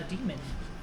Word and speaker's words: daemon: But it's spelled weird. It's like D-A-E-M-O-N. Demon. It's spelled like Daemon. D-A-E-M-O-n, yeah. Yeah. Daemon. It's like a an daemon. it's like an older spelling of demon Weird.